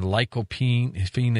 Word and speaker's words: lycopene: I think I've just been on lycopene. Is that how you pronounce it?